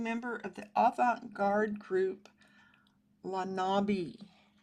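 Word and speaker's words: Les Nabis: He was a post-impressionist and founding member of the avant-garde group Lanabi, is how I think it's pronounced. I went and looked up the French pronunciation so that I wouldn't butcher it too bad.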